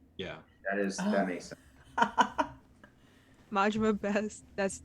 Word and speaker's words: Majima: No, Majima. Majima. Is that how you pronounce it? Really? It's Cooper Majima. Yeah. Oh wow. Nice. You learn something new every day. Yeah, Mhm. instead of you went the Spanish route, but it's the Japanese route for It is.